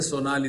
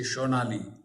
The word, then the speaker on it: Sonali: You know, in Bengali, sa is pronounced as sh. They don't say Sonali, they say Shonali.